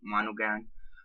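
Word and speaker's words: Monaghan: by Michelle mon monogan I believe you say her name monogan um yeah he's cheating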